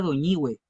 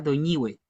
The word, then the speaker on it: Doñihue: Y en el sur, la partícula hue va acentuada, por ejemplo, en los saltos del Petrohue. Y es la misma sílaba, pero que en algunos lugares se acentúa, en otras no.